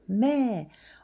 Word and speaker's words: แม่: 뭐마니까 미음이고 모음은 장모음 해서 성조는 저자음에 일자가 붙었으니까 이성. 이성은 올라갔다 내려왔다 한글 위에 이렇게 표시해줘요. 매 엄마라는 뜻도 되고 우리는 여기서 매못을 쓰는 거죠.